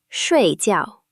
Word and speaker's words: 睡觉: 睡觉睡觉 To go to bed. To sleep. Next is 睡觉 Both syllables are fourth tone, falling sharply, like a firm statement.